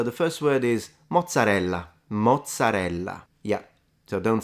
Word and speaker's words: mozzarella: let's try that so this one would be mozarella rather than like mozzarel or matzel you always like pronounce every syllable in Italian next one so yeah